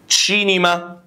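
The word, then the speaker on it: cinema: تشي طبعا يا جماعه بص حرف الاي او اللي هو الاي انجلش ده بتبقى ايه خلينا نطقنا ايطالي بقى الاي تمام بتكسر شويه تقول تشي اللي مع حرف الاي بتفتح تشي تمام تشنترو تشنترو يعني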